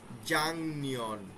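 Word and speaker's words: 작년: তাহলে কি হবে, জাং নিয়ন, বাং মূল। লেখক লিখিত ফর্ম হবে জাক নিয়ন, উচ্চারণ হবে জাং নিয়ন।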